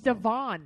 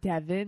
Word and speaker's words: Devoin: It's Devon, not Devin.